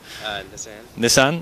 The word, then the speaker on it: Nissan: Is that pronounced right? Nissan.